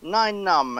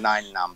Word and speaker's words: Nien Nunb: Yes, Nien Nunb, as in number nine. That's the sort of unofficial official way to say his name, Nien Nunb.